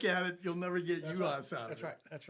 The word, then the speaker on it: Juhasz: Juhasz. Is that how you say it? Yep. I'm going to get that wrong. I promise you that. Juhasz.